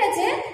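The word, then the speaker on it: a: ইন দ্য স্কাই আছে, আমরা এমনি সময় কি বলি? এ লাইক, তাই তো? কিন্তু এখানে একটা কবিতার মধ্যে এ আছে তো, তখন আমরা এটা কোন ভাবে উচ্চারণ করবো জানো? তখন আমরা এটা বলবো আ, তখন আমরা কি বলবো? Like আ diamond in দ্য স্কাই, ঠিক আছে?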